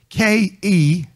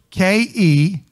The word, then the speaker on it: Kezazah: It's K-E-Z-A-Z-A-H. K-E-Z-A-Z-A-H. Kezazah. Some may pronounce it Kezazah.